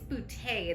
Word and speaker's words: Boutte: I think it's Boutte. There's a little accent on the E.